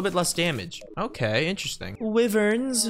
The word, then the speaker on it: Wyverns: Wyverns. Just kidding, they're called Wyverns. If you ever say Wyverns, you're saying it wrong.